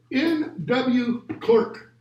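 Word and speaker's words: N.W. Clerk: N.W. Clark, as it's pronounced.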